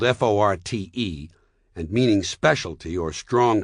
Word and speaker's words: forte: used in music notation is pronounced forte and it instructs the musician to play loud. She plays the skin flute and her fort is playing forte. Look it up if you don't believe me. And don't give me that whiny Forte is listed as the second preference. There's a reason it's second because it's not first.